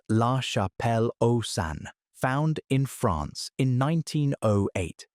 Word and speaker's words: La Chapelle-aux-Saints: The most famous survivor is the man from La Chapelle-aux-Saints, pronounced La Chapelle-aux-Saints, found in France in 1908.